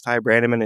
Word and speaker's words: Ty Branaman: do you say your name I said it's Ty Brandman I said oh that's too complicated we're gonna